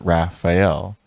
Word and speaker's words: Raphael: To pass, use the password Raphael, pronounced Raphael.